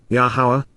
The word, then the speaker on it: Yahowah: advance of it occurring yahwah yahwah the proper pronunciation of yahwah our eloah God has